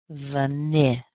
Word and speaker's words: vanilla: And you end up with I, vanilla, vanilla. And notice also I'm putting more strength on that N sound because that's where our strongest syllable is.